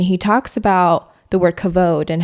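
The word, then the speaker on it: Kavod: people have like buter the name is a cavad how do you pronounce this thing but no it is pronounced cavod and just to kind of backtrack a little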